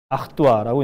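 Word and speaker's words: Artois: 아흐뚜아라고 이제 발음을 하는데 여러분들 요즘에 4개만 원 하는 맥주 중에 스텔라 아르뚜아 있죠.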